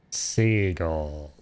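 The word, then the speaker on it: Segal: Her surname English pronunciation seagull. Yes. Seagull. Just like a seagull and also like an eagle.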